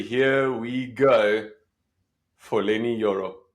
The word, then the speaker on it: Yoro: we go for Lenny yoro you to pronounce joro Lenny joro awesome cannot wait so